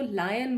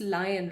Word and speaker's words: lion: लाइनीज ही बोलते हैं ना, और उसको लायन बोलते हैं। सही pronunciation it's लायन, right. लॉयन लॉयन लॉयन लॉयन करते हैं हम, बचपन से मैं भी लॉयन लॉयन ही करती आ रही हूँ।